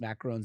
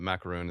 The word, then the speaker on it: macaron: it's all good uh the technical pronunciation is macaron but macaroon is very well accepted in the in the